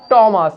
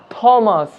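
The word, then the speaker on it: Thomas: এখানে H silent রয়েছে তাই এটা হবে টমাস, নট থমাস।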